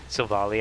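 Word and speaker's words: Silvally: It wasn't until I heard someone else say Silvali, I was like, "Oh, maybe it is pronounced that way."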